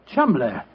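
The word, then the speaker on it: Cholmondeley: Being an American, he had no reason to know that the name Chuml is in no way pronounced the way it is spelled. Joe, I never thought of that. Chumlay.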